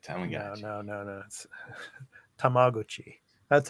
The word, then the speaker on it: Tamagotchi: in the US again Tamagotchis yeah that's how I would say it oh no no no no tamaguchi that's how it's pronounced that's the correct pronunciation out here in Japan but anyway back in